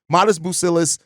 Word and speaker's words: Matas Buzelis: the NBA weight uh Matas buil is to me or mest busis I'm still adjusting my brain and saying it correctly mest bucillis um he need he